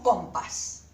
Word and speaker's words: compás: para trazar los círculos compás no decimos compás decimos con paz esta es la sílaba